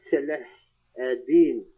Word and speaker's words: Salahdin: Saladino, é difícil alguém pronunciar no português Salahdin. Salahdin é Saladino.